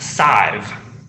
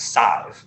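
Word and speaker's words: Sadhbh: sidib Gallagher in Miami her name it's actually pronounced side it's that's a very it's an Irish I don't know if it's Gaelic or whatever s-i-d-h-b-h it's a very weird spelling pronounced like five but with an S size her name is Scythe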